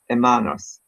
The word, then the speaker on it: hermanos: Yo no tengo hermanos. Perfect. Excellent pronunciation. Nice. Spanish H is silent like French.